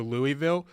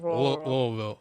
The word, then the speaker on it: Louisville: I can't figure out the disrespect the committee gave to Louisville, because in the final AP poll, I think you're pronouncing it wrong. I think it's Louisville.